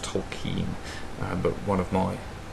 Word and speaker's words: Tolkien: on Tak himself John Ronald Ro talkin um actually pronounced toen um but one of